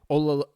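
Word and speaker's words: Oluwatimi: Yeah, pronounce his last name for me. Olatimmy.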